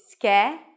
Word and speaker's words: schedule: The way I pronounce this word is schedule. Primary stress is on the first syllable.